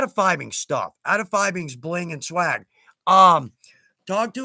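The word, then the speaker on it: Fiebing's: It's kind of like fibings, phoebings. Technically, it's fibings, and that's straight from the source, which, by the way,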